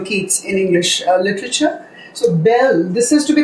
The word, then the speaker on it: belle: So, belle, this is to be pronounced as belle and this means a girl.